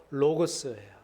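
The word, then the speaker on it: λόγος: 이 말씀은 헬라어로 로고스예요. 한번 따라해 보실까요? 로고스. 로고스라는 이름이 그 이제 발음이 좋으니까 카페도 로고스 카페도 있고 뭐 도서관도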